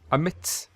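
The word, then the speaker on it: AMIDST: we've been using um emits amit as i pronounce it a-m-i-d-s-t where basically you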